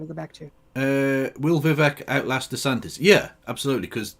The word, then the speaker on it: Vivek: Vivek Ramaswamy's Vivek, it rhymes with cake. Ramaswamy, his entire bit is an embarrassment. Oh no, we're talking on a sort of please clap level of. Oh no, media. Vivek, it rhymes with cake.